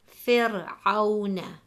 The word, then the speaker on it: فِرْعَوْنَ: If the answer is no, then we will read the Ra SAKINAH light as the example, فِرْعَوْنَ.